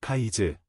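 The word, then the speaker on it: Cádiz: 영어에서는 전통적으로 A의 예리한 악센트 표시 없이 철자가 쓰이는 카디스라는 이름이 다양하게 발음됩니다. 액센트가 두 번째 음절에 있을 때는 일반적으로 발음되지만 액센트가 첫 번째 음절에 있을 때는 일반적으로 미국 영어에서 이와 유사하게 발음될 수 있습니다. 스페인어에서 악센트는 철자에 따라 항상 첫 음절에 있지만 스페인의 일반적인 발음은 현지 방언이지만 대신 카이즈, 카이 또는 카, 아이라고 말합니다.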